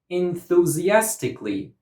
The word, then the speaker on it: enthusiastically: Enthusiastically. Enthusiastically. Enthusiastically. This word has 6 syllables, and the stress goes on the 4th syllable.